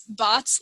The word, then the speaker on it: Baatz: last name correctly yes i tell people it's bots like robots bot i love that oh